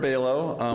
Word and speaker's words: Bailo: my name is bailo with fm3 research where we're getting a little chuckle of my name's pronunciation because it's either halo or jlo is what it rhymes with whatever is your preference